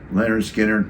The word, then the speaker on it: Lynyrd Skynyrd: Born to Run side one I always played Leonard skinnard pronounced side one I mean you know we wore